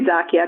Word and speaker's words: Xakia: So the word Xakia comes from the word Sakia. It's actually spelled with an X, like Xerox, for example.